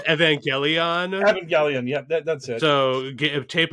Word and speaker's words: Evangelion: ] it up that's it i believe it's evangelion yep that's it so tape up your glasses